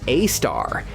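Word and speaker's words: Sagittarius A*: Its name is Sagittarius A, pronounced A star, and it's 4 million times as heavy as the Sun.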